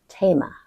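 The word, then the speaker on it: Théma: It's pronounced tma. So there's no th sound that comes from that.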